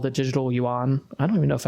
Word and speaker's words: yuan: But they have what's called the digital yuan. I don't even know if I'm pronouncing that right, but however you pronounce that. I think it's just yuan.